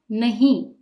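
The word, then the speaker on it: नहीं: the last one is the nasal sound nahi and that is because of this dot if you look at the Hindi script this thought tells you that there should be a nasal sound and this is true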